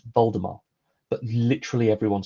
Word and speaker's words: Voldemort: The T is silent. It's Voldemort.